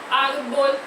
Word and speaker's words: árbol: Ar é a sílaba mais forte e é paroxítona ou grave. E termina com L, termina em consoante, e essa consoante não é N e nem é S, então a gente acentua, tá certo?